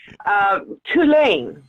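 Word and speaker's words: Cú Chulainn: Tulane is how I've been told to pronounce it, and he is a war hero.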